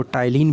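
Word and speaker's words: ptyalin: एक तो अमाइलेज है, जिसको टाइलिन भी बोलते हैं, यहाँ पर पी जो है साइलेंट होता है, और दूसरा है लाइसोजाइम।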